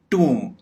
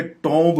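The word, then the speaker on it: tomb: कंगी, ट्यूम, टूम। इसको आमतौर पे टॉम्ब बोला जाता है, यानी एक तो हम ये ओ की आवाज नहीं निकालेंगे और दूसरा बी साइलेंट करेंगे, तो ये बन जाएगा टूम।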